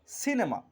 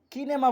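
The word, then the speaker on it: cinema: তেমনিভাবে 2 নম্বর শব্দ হলো সিনেমা। এখানে আমরা সি এর পর আই থাকার কারণে আমরা শব্দটিকে বলছি সিনেমা, অর্থাৎ সি এর উচ্চারণ ছয়ের মতো হচ্ছে। এখানে আমরা বলছি না কিনেমা, বলছি না।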